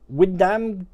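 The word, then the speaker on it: Wymondham: all right um so windham is pronounced windham go figure what windam go figure windam windam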